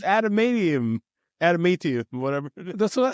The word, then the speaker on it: adamantium: It's adamantium, whatever. That's what I said. No, you said antimatium.